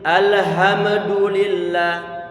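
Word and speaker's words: الحمد لله: begitu nggak boleh tapi alhamdulillah di masalahnya yang pertama Hamzah yang mustinya kita baca a saya baca Oh tebal mestinya tipis sehingga pastikan a Alhamdulillah tapi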